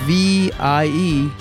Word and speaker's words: Vietri: Vitri, V-I-E-T-R-I.